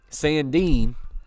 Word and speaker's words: Sandin: and I believe that Sandin saying Dean so knew I was pronouncing his name wrong saying Dean had the